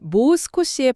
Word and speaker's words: もう少し: 자료에 따르면 모스코시의 발음은 모를 길게 끄는 모스코시입니다.이 장음이요.